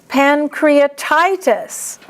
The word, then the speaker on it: pancreatitis: Pancreatitis. TI is the accent.